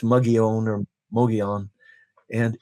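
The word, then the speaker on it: Mogollon Rim: The Mogan Rim is spelled like Mogulan, but it's pronounced Muggyon or Moon.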